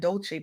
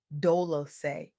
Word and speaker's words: Dolce: I'm your host Dolci, pronounced dol-o-say, like sweet softness whispered in French, and I'm your guide